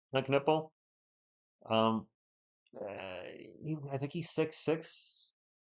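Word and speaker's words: Kon Knueppel: The K. You do pronounce the K, Con Knuppel.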